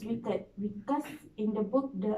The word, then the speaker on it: WCKD: And then WCKD is actually pronounced as weak, right? Yes, wicked.